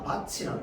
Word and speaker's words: 밭이랑: 자, 그러면 얘는 어떻게 발음될까요? 맞습니다. 바치랑 이렇게 되죠.